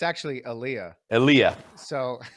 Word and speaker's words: Elia: Well, it's actually Aliyah.